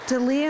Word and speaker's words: Delia: Dalia, Ian Butler, Claudia Reinhardt. Am I probably not pronouncing that right either? Good evening, council, and to members of the audience. My name is Delia.